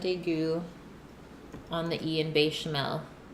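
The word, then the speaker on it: béchamel: on the Ian bechamel it was pronounced it with a short e be Chanel be Chanel bechamel you just have to put an accent on it and it sounds proper that's a long e bed Oh bechamel I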